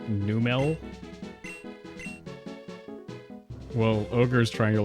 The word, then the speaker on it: Numel: It's actually pronounced Numel.